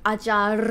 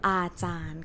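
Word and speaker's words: อาจารย์: Is it ajar? No. Lorru as ending consonant is nonu sound. N sound. So, ajan ka.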